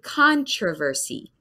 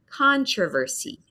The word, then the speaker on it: controversy: American English, I say controversy. So it's the big syllable at the beginning, controversy, controversy.